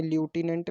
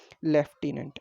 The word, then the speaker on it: लेफ्टिनेंट: ठीक है, पढ़ने में ल्यूटिनेंट लगता है लेकिन एक्चुअली में होता क्या है ये? लेफ्टिनेंट, LIEUTENANT।